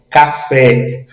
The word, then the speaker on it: café: Café. O Fé, ele é mais forte.